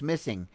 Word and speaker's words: MSSNG: way better than that mssng pronounced missing is a groundbreaking collaboration